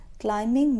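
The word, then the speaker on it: climbing: इज क्लाइमिंग the mountain क्लाइमिंग में B silent है हम इसको क्लाइमिंग नहीं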